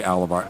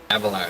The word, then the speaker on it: Avalar: JP A or sorry, Alavar. Av Avalar. Avalar is right.